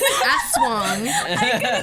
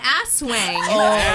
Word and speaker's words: aswang: on how to pronounce aswang. Stop That's laughing. wrong. Yeah, she was dying. She told me about it. The YouTube did me dirty. I blame the YouTube guy because he pronounced it asswang.